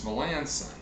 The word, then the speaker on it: Melancon: mmm Lanson thank you it is sought its Melanson so they're pronouncing it Melanson all right oh one